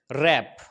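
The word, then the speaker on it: wrap: इसका एग्जांपल बनता है रैप आर से पहले डब्लू तो साइलेंट हो गया रूल क्या है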